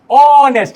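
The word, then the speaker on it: honest: যে দেখো এখন শুরুটা হচ্ছে কনসোনেন্ট, তারপরেও কি অনেস্ট, এই যে অ সাউন্ড আছে না? তাহলে কি হবে বলো? মনে করলে একটা অনেস্ট ম্যান, এন অনেস্ট ম্যান, এন। এখন যদি এটাকে হনেস্ট, কথার কথা ভুল উচ্চারণ করলাম, মানে তুমি যদি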